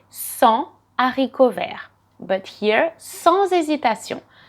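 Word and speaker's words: sans: avec excellent my friend without is so and i'm not pronouncing the s at the end they speak without hesitation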